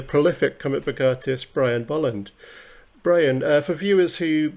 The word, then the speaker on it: Bolland: my name is brian bolland and well done for pronouncing it correctly most americans and canadians i assume don't quite know how to pronounce the first vowel in my surname but uh yes um